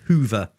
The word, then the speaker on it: Hover: Although it's spelt hover, he wants it pronounced Hoover.